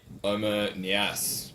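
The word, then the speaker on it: Oumar Niasse: Everton coming up with the goods, Yeah, courtesy of your mate Omer Niasse. that is how you pronounce his name too.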